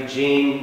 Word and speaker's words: Eugene: students was named Eugene I'm pronouncing the American Way Eugene fama Burke Eugene and